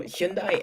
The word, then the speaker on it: Hyundai: of like why but the proper way to say Hyundai is like Sunday that's how they say it Hyundai he means the the